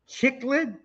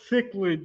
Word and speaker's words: cichlid: video but it appears you ate the chocolate chicklet just kidding just kidding just kidding what the is a chiclet is chocolate cichlid you i hate when people